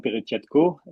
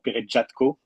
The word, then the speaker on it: Peretjatko: So um so my name is Perkco or Perkco as you as you said because it is a French pronunciation and it is a Ukrainian one but I'm French and the French pronunciation is the official one.